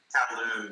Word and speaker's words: Kowloon: Kowloon, yeah.